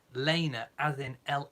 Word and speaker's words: Lena: spelt Lena L e ma the name is pronounced Lena as in la Y na so if you're